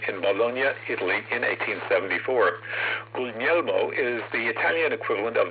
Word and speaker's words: Guglielmo: To set the record straight, our Marconi has never been Googly Elmo, so please stop calling him that. The letter G in the middle of an Italian word is not pronounced as it is in English.